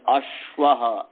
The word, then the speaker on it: अश्व: संजा हो गई और गुरु संजा होने से इसका उच्चारण जो होगा उसमें रस्व की तरह नहीं उच्चारण होगा कि अ अ की तरह नहीं य होगा अश्व माने उसम भारी होगा थ लंबा उच्चारण होगा इसलिए अश्व ऐसा उच्चारण होगा अब इसकी सिद्धि क्या